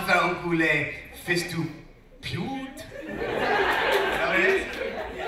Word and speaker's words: pute: No, I was told it was like pute, like pewter. Like pute. It's written with U, but You say it.